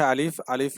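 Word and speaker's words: ا: প্রথমে হচ্ছে আলিফ। আলিফ উচ্চারণের সময় সামনের উপরে দুইটা দাঁতকে আমরা নিচের ঠোঁটের সাথে লাগিয়ে দেব এবং উচ্চারণ যখন হবে তখন দেখবেন যে মুখ থেকে একটু বাতাস বের হয়।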